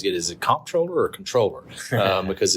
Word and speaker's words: Comptroller: And when I say controller, of course, one of the questions I always get is it Comptroller or Controller? Because it's spelled C-O-M-P, Troller.